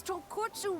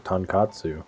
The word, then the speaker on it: tonkotsu: It's tonkotsu ramen, actually. Oh, that's how you say that. I thought it was tonkatsu. Apparently, I've been saying it wrong.